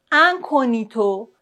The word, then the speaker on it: incognito: G-N-I. En général, dans ce cas-là, on ne prononce pas le G, comme par exemple magnifique, magnifique. Incognito, incognito.